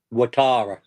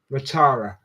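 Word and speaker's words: Ouattara: And there was also Dang uh Dango, how do you pronounce his second name, Rich? Watara. Watara.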